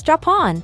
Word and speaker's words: Japon: is read as Japan, or from French, where it is roughly read and pronounced as Japon.